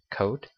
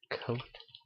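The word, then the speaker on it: cout: So first thing that we're going to put down here is coat. And yes, I say it like coat, but enter a number.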